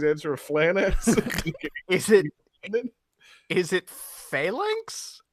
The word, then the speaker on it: Phalanx: Like, no, I'm pretty sure it's pronounced Flanax. How is it pronounced Flanax when the L comes after the A? Yeah, you don't usually see PHL used a lot in words, do you? It's Phalanx, named after the Roman